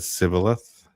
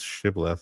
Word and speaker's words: shibboleth: If he said Sibboleth, because he could not pronounce it correctly. Ephraim's dialect lacked the sh sound, turns shibboleth into sibboleth.